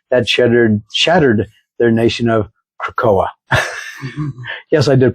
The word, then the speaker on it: Krakoa: this devastating attack that shattered their nation of Krakoa. Yes, I did pronounce it right, Robert.